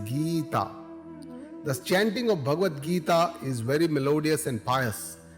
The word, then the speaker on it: Gita: 18 chapters or Adias pronounced not as gaita with a short I but as Gita with a long e goal or